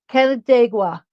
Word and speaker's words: Canandaigua: Canandaigua, New York. My husband, Ken, just told me how to say it because he's from Buffalo.